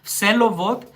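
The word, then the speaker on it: Всеволод: Yes, this is how you say the name, the Russian name, Vselovod.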